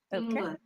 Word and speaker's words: finger: it's not finger it's because n and G are two separate sounds there okay finger finger yes finger but here only one